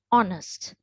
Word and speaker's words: honest: so this should be honest we never should pronounce it as honest right so this is honest and this is our right so even though